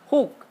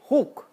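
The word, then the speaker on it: חוג: La palabra circuito es la palabra huk. Se escribe en español, del hebreo al español, es K-J-U-G, huk, ¿sí?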